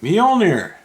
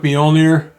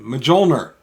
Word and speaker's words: Mjolnir: And uh interestingly, when I was a kid reading Thor comic books, we all pronounced it majolner because we didn't know how to pronounce it.